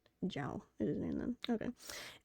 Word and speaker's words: Zhao: The ZH is pronounced J. So it's Zhao? That makes sense, actually. That makes sense as to why, how that sound, how those letters made that sound. Zhao.